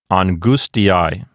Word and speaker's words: angustiae: So we'll put the stress accent on that particular syllable, and the word will sound like angustiae.